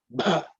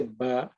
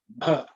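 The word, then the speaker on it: भ: Okay, plus A gives you Bha. Okay, generally people from the south may not pronounce it. They will say Ba. It's not Ba. It's Bha.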